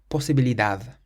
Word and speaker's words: posibilidad: It ends in a D, so we stress the last syllable. Posibilidad, posibilidad.